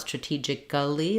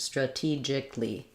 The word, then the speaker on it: strategically: then for strategically um so even though we have a-l-l-y just think about it as adding just the Lee part because we don't it's not strategic Gully but rather just strategically same syllable stress strategically again you can